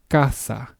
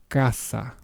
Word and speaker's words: casa: An example word for the pronunciation with the K sound will be the word casa, which means house. Once again, kasa.